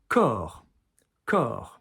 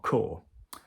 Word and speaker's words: corps: Corps, corps, not core. Corps is the body. So, you know, as in corpse.